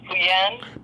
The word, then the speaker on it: Pyun: Okay, his name is Pyun. Pyun. I've never been able to pronounce his last name.